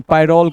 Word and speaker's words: pyrrole: इसको पैरान नहीं, पायरोल कहते हैं।